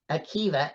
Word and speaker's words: Akiva: what's his name how do you say that Akiva a-k-i-v-a cats you could find them on my